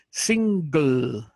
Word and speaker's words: single: Lo que hago es que hago sing, ahí la lengua se me pega al paladar y luego hago la gl. O sea, jalo, como dice la lengua, un poquito para abajo y subo la punta de la lengua al paladar y suena single.